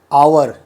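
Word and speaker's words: hour: letter H होता है लेकिन वो एच साइलेंट होता है उसका उच्चारण नहीं होता है जैसे आवर एक शब्द है आवर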